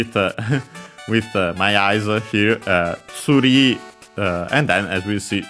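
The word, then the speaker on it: ツリー: But yeah, either way, tree from English is pronounced in Japanese as tsuri. Its accent is on the ri as expected, and so yeah, just like in English.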